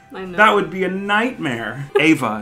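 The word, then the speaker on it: Éabha: you're very close okay it's a father yeah father father so it's ava ava yeah ava ava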